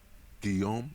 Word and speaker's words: Guillaume: Guillaume le Million. If Guillaume? it doesn't rhyme, you're not pronouncing it right.